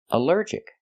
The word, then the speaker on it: allergic: Allergic is three syllables. Allergic. The stress is on the second syllable. Allergic. Allergic. Here the alll is not pronounced all but pronounced uh like in cup and up because it's not stressed.